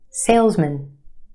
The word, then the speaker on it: salesman: For example, take the word M-A-N, man, man. Put it in this word and it becomes mun, mun. Salesman, salesman.